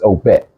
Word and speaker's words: Obet: we sitting there they told us how to pronounce this it's OBET oh man okay a thousand percent it's OBET